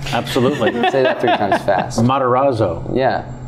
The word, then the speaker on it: Matarazzo: so smart and such a wise little guy pronounce his last name for me Matarazzo sure yeah absolutely after kind of fest Matarazzo yeah not that sounds like a sports car